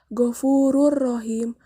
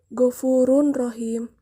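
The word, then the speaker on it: غَفُورٌ رَحِيمٌ: Suara tanwin dimasukkan ke dalam huruf sesudahnya, yaitu ro, menjadi Ghafurur Rahim, bukan Ghafurun Rahim.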